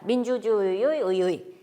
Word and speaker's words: 의: 아까 의지, 의사, 의도 발음했을 때 살펴보았듯이 단어 첫머리에 오는 의자는 의, 이중모음으로 발음하면 됩니다.